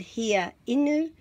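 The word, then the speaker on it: hiainu: And here, inu, is wanting drink. So don't be worried about those three vowels in the middle of here, inu. Just pronounce each of them separately. He, a, I, nu.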